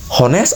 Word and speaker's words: honest: Jadi huruf H itu adalah silent word ya, silent alphabet ya, silent letter. Honest. Don't say honest atau honest. Honest, honest, honest bisa juga, tapi lebih ke honest.